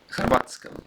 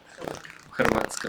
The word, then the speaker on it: Hrvatska: Hrvatska, or how do you say in Russian? Hrvatska.